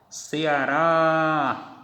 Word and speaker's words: Ceará: tonicidade é aqui porque quando eu uso a técnica do grito que falo Ceará vejam que aqui está a sílaba tônica maracujá Aqui está a